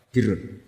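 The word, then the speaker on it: البر: Ya kalau di isim fa'ilnya umumnya guru-guru kita baca barin, tapi untuk masdarnya untuk kebaikan bacanya apa? Birun. Nanti kamu protes, oh barun itu daratan Gus, kalau birun itu kebaikan.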